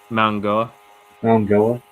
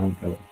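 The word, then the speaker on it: Mauigoa: We're gonna go my what's the proper pronunciation? Mangoa. Okay, that's good. Yeah. Mangoa.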